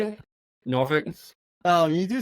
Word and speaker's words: Norfolk: Norfolk. Yeah. Wait, how do you say it? Norfolk. Oh, you do say it like that. Everyone says, Yeah. If you're from Norfolk, you say Norfolk.